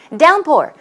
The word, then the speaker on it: downpour: Downpour, stress goes on the first syllable.